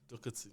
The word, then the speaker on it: Doherty: We taught you how to pronounce this thing last game week. Doherty.